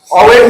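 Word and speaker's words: always: ऑलवेज में से हमेशा, इसको कई लोग ऑलवेज पढ़ते हैं, ऑलवेज नहीं पढ़ के इसमें एल साइलेंट होता है।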